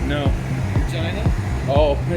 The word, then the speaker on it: Regina: Regina. Oh, yeah. A city that rhymes with fun.